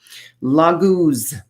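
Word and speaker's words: Laguz: one is very earthy lagoos lagoons is how this pronounced it's the rune of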